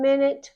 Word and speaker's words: minute: word minute like one minute one hour but we don't pronounce that U as a u we pronounce it like an i men it in one